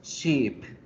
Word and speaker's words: sheep: La palabra barco se dice con la I corta, ship, ship, ship, ship. Oveja se dice con la I larga, sheep, sheep, sheep.